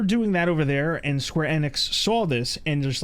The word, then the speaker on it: Square Enix: Square Enix is technically how it's pronounced.